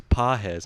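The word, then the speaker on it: Pagés: But, you know, he's Pajes, and it's spelled like pages.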